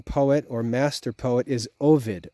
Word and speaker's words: Ovid: or Master poet is Ovid o v i d Ovid or sometimes it's pronounced Avid in English he wrote a work